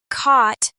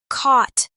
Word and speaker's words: caught: Both with an open rounded a repeat after me. Caught. Caught.